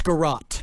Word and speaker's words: garrote: was attached to a wooden, how is this pronounced, garrote? It's garrote.